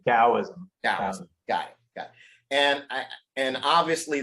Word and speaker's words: Taoism: The T is a D technically, okay. So you would say Taoism.